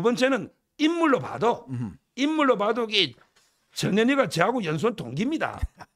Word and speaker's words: 전현희: 지금 전현희, 저 발음 정확히 합니다. 전현희 전 국민권익위원장 바로 일이 이제 윤희숙 지금 후보가 맞붙는 거 아니겠습니까?